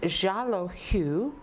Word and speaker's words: Xalohu: what we got back, they pronounced as Xalohu, but wrote it out with an Xalohu. So it begins with an X, even though it sounds like a ja, like a J sound.